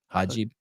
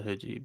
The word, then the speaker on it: hijab: Am I saying it right? Hajib. I think it's a hijab.